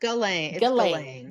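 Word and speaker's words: Ghislaine: But the S is silent. Galain s the h i s is silent galain maxwell.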